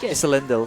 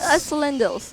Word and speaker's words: Isolindus: Yeah, I know it's a little bit confusing because of how the spelling is, but that is what they told me is the proper pronunciation of it. I know he sounds like he's from, like, you know, from Lord of the Rings, right?